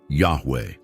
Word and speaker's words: Yahweh: this interpretation is correct the pronunciation of the Divine name should be close to that of the verb to be in the third person Yahweh this would make sense